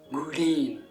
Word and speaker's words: グリーン: Attention toutefois à la prononciation légèrement différente en japonais, green.